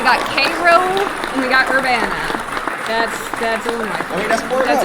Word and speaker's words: Urbana: Urbana.